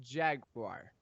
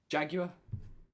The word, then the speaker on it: Jaguar: yeah okay he mispronounced Jaguar so obviously if you live in the UK you say jaguar um I'm not the